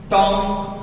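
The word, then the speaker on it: tomb: बम का मतलब बम टॉम टी ओ एम बी टॉम अब यहां पे एम के बाद बी आ गया तो भी सा तो टॉम नहीं हां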